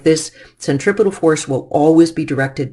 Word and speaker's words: centripetal: force is called the centripetal force once in a while I'll over pronounce it and say centra petal force but the centripetal force